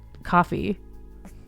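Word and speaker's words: Ko-fi: found in the footer it's pronounced coffee but I read it wrong every time birded site fetid versus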